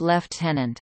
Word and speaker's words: lieutenant: Trainees at RMC hold the rank of staff cadet and, if successful in completing the course, are commissioned as lieutenants, pronounced left-tenant.